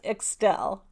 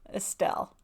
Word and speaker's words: Xtelle: Okay, that's Estelle. Estelle. So people have asked me how to pronounce that because it's spelled Xtelle, and it's Estelle, kind of like Estelle, but it's with an X.